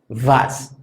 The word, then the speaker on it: was: La W o W, que en alemán es la que se llama V, suena como debería sonar nuestra letra V en general. Esto es un sonido labiodental.